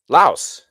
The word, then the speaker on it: Laos: Uh well, this I picked up in Laos in Lao. They don't pronounce the s there.